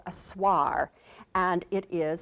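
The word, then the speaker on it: Swaar: least make a beginning this is called a swar and it is spelled s w a a r and it's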